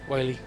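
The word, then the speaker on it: Whalley: As it's spelled with H. W-H-A-L-L-E-Y. Whaley.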